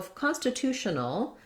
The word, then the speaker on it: constitutional: have our schah so constitutional the end of the word is going to be our sh sound our schah null and then again probably